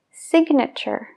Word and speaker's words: signature: otras no por ejemplo la palabra firmar tiene una G antes de la n pero pronunciamos Sign I Sign you Sign he signs entonces en el verbo no pronunciamos esa g pero en el sustantivo sí signature signature signature Entonces tenemos Sign donde no se pronuncia la g y signature donde sí otro ejemplo practical la